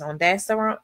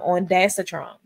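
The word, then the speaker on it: ondansetron: Um um the pronunciation of the generic is on daster. I'm sorry, on I said on daster. Sorry about that guys. Um on datetron, the action it blocks serotonin receptors in the brain.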